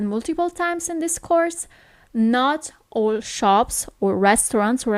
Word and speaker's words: no: No is no. Okay, so you actually write it as in English, but the pronunciation is a little bit different. It's not no, but it's no.